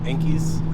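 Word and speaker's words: Enkei: bbs's with the 350 you can get the enkis is how you pronounce them oh okay so what about as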